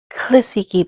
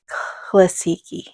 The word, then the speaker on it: Classiky: even looked it up, but I prefer saying Classiky. I don't know, it sounds pretty, Classiky. So we're going to go with that today. So that is how I will be pronouncing the Classiky brand today in this video, and every video that I make, I'm going to be saying Classiky, and I'll probably be